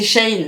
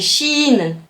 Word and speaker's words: Shein: vois une publicité ah vous le prononcez comment ch in tiens je pas Alex tu vois ça lui qui me dit que c'est Shane non c'est sheine il commence à faire